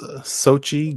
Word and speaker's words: Xochitl: Do you know how to pronounce her name? I believe it's Xochitl Gomez.